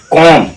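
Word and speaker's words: comb: य कहता है कि अगर एम के बाद एम के बाद और टी से पहले अगर बी आ जाए तो उस जगह बी को हम साइलेंट रखेंगे तो कम कम कम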